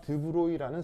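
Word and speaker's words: de Broglie: 최초로 이제 그 얘기한 사람이 바로 프랑스 사람 드브로이라는 사람입니다 그 뭐냐면 발음이 좀 묘한데 프랑스 사람이어서요 여기까지는 드는데 이게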